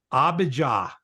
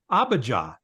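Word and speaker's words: Abijah: was the father of abah abah yeah now if you pronounced it AB or whatever that's it's weird but if you see that h on the end that's an a sound so it's abaja and abaja the father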